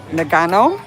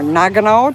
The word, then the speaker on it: Nagano: It is gorgeous up there in Nagano or Nagano, depending on how you want to pronounce it.